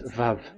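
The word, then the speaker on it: וָו: So the word, the shape Vav is really pronounced V, like Vogue.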